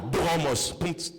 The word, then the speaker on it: Dromos: Dromos, ça se prononce D R o m o S. Dromos.